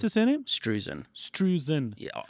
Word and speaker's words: Struzan: Which How do is you pronounce his surname? Struzan. Struzan.